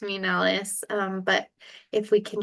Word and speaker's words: Nellis: y Nellis um my name is Nellis I'm very grateful to be here and yeah